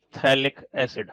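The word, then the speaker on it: phthalic: इस कंपाउंड का नाम पी एचटी एच ए एल आईसी थैलिक्स pH silent रहता है थैलिडोमाइड तो ये nh2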